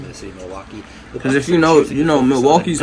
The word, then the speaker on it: Milwaukee: Actually, it's pronounced Milwaukee, which is Algonquin.